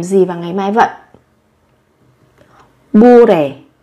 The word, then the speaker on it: 모레: Đây là phát âm, các bạn sẽ phát âm không hẳn là giống như là âm m mà giống như là âm b các bạn nhé. Không phải là mô mà sẽ giống như là bu, bu đề, bu đề.